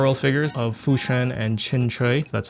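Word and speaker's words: Qingque: On top of it, uh we have two Hong Kai star roll figures of Fushen and Chinch, that's how you say her name.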